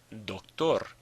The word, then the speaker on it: doctor: Doctor, doctor. Ends in an R, not an N or an S, so the stress is on the last syllable.